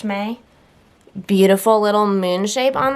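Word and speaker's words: Mei: This is called May, M-E-I, I think it's pronounced May.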